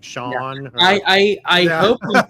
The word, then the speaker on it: Shawn: It's pronounced Shawn. Okay. Hey, all right. Okay. So I greatly apologize. We've been calling you Shane for how long?